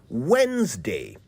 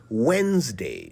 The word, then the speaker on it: Wednesday: trips us up sometimes just try to remember the first D and the second e are silent so it's Wednesday not Wednesday now did